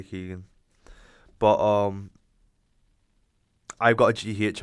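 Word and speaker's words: Keoghan: Me obviously Costa, Paul Mescal and Barry Keegan or Barry Keown. Not sure how to pronounce his name yet. I think it's Barry Keegan.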